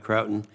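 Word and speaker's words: Croughton: Is that pronounced right? Krautton it is.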